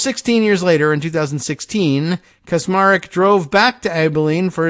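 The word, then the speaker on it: Kacsmaryk: federal judge ah look a pronunciation guide kasmarik which is cosmaric I guess is how they would have you pronounce it which I assume is how he would ever pronounce it is the uh now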